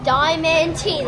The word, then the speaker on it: Diamantina: They're Diamantina.